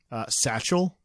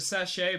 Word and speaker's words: sachet: Satchel? It's the sachet, but yeah, Sachet. It's just spelled the same way, okay?